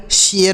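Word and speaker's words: share: ए आर E dear S एच ए आर ई शेयर हो गया क्या हो गया शयर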